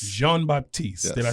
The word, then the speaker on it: Jean-Baptiste: Jean-Baptiste. Jean-Baptiste.